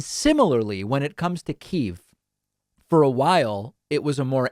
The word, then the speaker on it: Kyiv: The backstory on this and the reason why we now say Kiev and spell it Kyiv is that much like in, what's a good example?